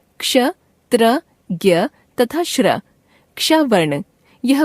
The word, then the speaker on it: ज्ञ: हिंदी में इसका उच्चारण ज्ञ ग जमा य के रूप में होने लगा है।